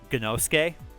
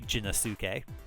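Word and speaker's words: Gennosuke: dub was was like one of the main characters is Ganoske. Uh, but in the English dub that's obviously Jinasuk. So just a really poor pronunciation there. Um, bulk of the series also happens above ground.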